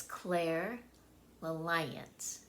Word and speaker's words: clairalience: next one is Claire Alliance Okay so it's Claire Alliance that's how you say it and it is